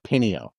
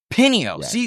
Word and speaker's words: Pineo: Uh, Pineo. Pine. See? See? I was going to pronounce perhaps try Pino and that's wrong.